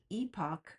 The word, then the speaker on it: EPOC: So, not only does epoch rhyme with Spock, but much like how Mr.